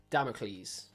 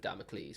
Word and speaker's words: Damocles: Yeah, so Sleep Token, they have released a new song called Damocles. Yes, I pronounced it right.